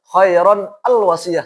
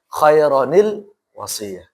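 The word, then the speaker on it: خيرا الوصية: Kan khairon itu kan nun sukun akhirnya. Kemudian al wasiyah, hamzah wasl kan sukun ya enggak boleh khairon al wasiyah. Susah juga orang Arab bacanya. Makanya pada kasih khaironil wasiyah.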